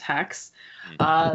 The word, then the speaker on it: Hax: spelled h ax and it's pronounced hacks there are now good